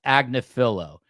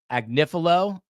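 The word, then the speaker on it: Agnifilo: For f's sakes, it's pronounced Agnafillo. Are are you married to this dude? I would like to know because I've heard Agnifil. I've heard Agnafillo. I've heard them both.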